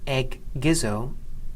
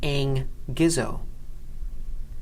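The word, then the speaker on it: ἐγγίζω: When this happens, the sound of the first gamma changes from a g sound to a n sound.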